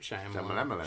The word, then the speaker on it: Shyamalan: I think Shyamalan.